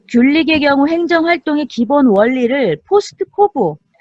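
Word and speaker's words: POSDCORB: 자, 귤릭의 경우 행정활동의 기본 원리를 포스트코브. 자, 이게 이제 우리가 발음학적으로는 포스트코브인데 각각의 이니셜마다 그 뜻이 있죠.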